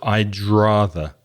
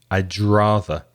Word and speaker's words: I'd rather: The D of I'd and the R of rather come together. So I'd rather. I'd rather.